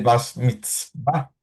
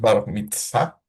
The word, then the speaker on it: bar mitzvah: A los 13 años, los varones celebraban una fiesta que se llama el Bas Mitzvah. Perdón por mi pronunciación hebrea, hermanos, pero es bar mitzvah.